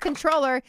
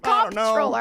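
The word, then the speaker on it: comptroller: yeah it's more uh it's pronounced controller even though it's comp controller ah it I don't know clearly really I said it was cop controller I don't know it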